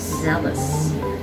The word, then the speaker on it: zealous: is passionate about something it is pronounced as zeldus zealous not sceneless number 43 we see